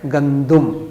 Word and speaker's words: گندم: کہتے ہیں ہم، ویٹ، اس کا صحیح تلفظ ہے گندم، دال کے اوپر پیش ہے، اس کو گندم پڑھنا صحیح ہے۔ اور آج کے ہمارے جو انگلش کے 3 الفاظ ہیں وہ کیا ہوں گے؟